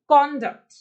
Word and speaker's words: conduct: तो बच्चे जब हम इसको एज नाउन प्रोनाउंस करते हैं तो हम इसकी प्रोनाउंसिएशन इसकी होती है कॉन्डक्ट, कॉन्डक्ट। तो आपको सुन के भी पता लग रहा होगा कि कौन पे मैं थोड़ा सा स्ट्रेस डाल रही हूं, डक्ट पे आते आते